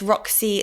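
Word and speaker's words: Roxii: Um, so it's Roxy Super Cube. It's spelled R O X I I.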